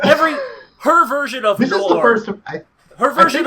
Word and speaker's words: noir: Why are you saying noir like an Australian saying no? I don't know. Noir.